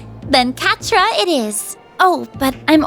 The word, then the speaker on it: Quatre: You can just call me Catra if that's all right. You don't mind? Catra, I didn't remember how it's pronounced. Then Catra it is.